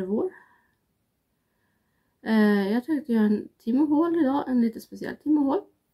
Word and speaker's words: Temu: Jag tänkte göra en timmehål idag, en lite speciell timmehål. Eller Temu, som det tydligen ska uttalas, men det struntar jag i.